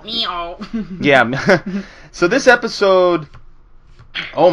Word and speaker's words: Mijo: episode is called Miho I'm going to say it like the ABA in the episode last night Miho yeah so this episode